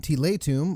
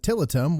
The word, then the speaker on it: Tiletum: In Tiletum, or as many people will mispronounce it, Tiletum, 1 to 4 players